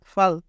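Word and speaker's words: 팔: তো ফ, ফর সাথে আ, ফা। আর রিউল নিচে রয়েছে সেহেতু ল। তো এটার উচ্চারণ কি হলো? ফাল, ফাল।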